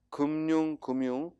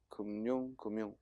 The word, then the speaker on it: 금융: 자, 335번은 금융, 복수표준 발음 둘 다 맞습니다. 금융. 또 검열 둘 다 맞습니다. 금융과 검열은 둘 다 맞습니다. 금융, 검열. 그러니까 니은 첨가해서 발음해도 되고 그대로 연음해서 발음해도 되고 우리 표준 발음법에 두